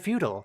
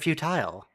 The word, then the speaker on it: futile: change their pronunciation of feudal they said feudal instead of futile they always say futile I guess it makes